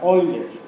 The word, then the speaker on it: Euler: Se escribe Euler, pero se pronuncia Euler, en alemán. El diptongo EU en alemán se pronuncia OI.